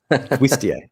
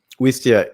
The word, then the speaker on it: Wistia: do you say that is it westia not with stereo wisteria is the plant wistia wistia you can upload so